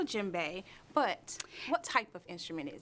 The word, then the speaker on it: djembe: say this part again djembe it starts with a D but you sort of say it like the J the D is silent djembe now djembe where did you get